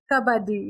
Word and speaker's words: Kabaddi: Kabaddi, yeah.